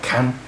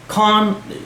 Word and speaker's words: Khan: of your mouth and not pronounce like Ken that's how the white people do it clone firm Aamir Khan Salman Khan Shahrukh Khan Khan that's how you pronounce it from Spain you back